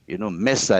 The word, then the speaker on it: mesa: So Spanish is pronounced as it is written. Right. Mesa, M-E-S-A, mesa.